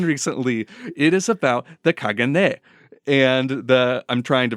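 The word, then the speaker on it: caganer: a second one recently it is about the Kagan and the I'm trying to pronounce this well enough uh it's spelled c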